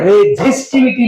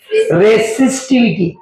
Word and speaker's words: resistivity: याचा म्हणताना म्हणे रेझिस्टिव्हिटी नाही, गावंडळ नाही आपण, रेसिस्टिव्हिटी. काय म्हणायचं, रेसिस्टिव्हिटी असं म्हणायचं, म्हणजे आपल्याला स्पेलिंग येतं.